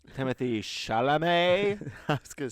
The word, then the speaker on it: Chalamet: timothy how do you say his name timothy chalamet i was gonna say chardonnay chalamet telemet so